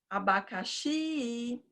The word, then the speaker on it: abacaxi: Então, você chama a palavra. Abacaxi, abacaxi. a sílaba mais longa é o xi na chamada. Então, o xi vai ser a sílaba tônica.